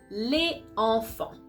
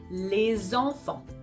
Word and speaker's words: les enfants: But here, as you pronounce it, les enfants, you can see that the first word ends with a vowel sound, and the second word starts with a vowel sound as well. That is not working according to the pattern CV. So because of it, we're gonna need to connect the two words, and that's the reason why you're gonna pronounce les enfants.